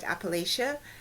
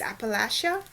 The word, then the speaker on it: Appalachia: to pronounce it so I've always called it Appalachia but it's Appalachia sorry sorry I hope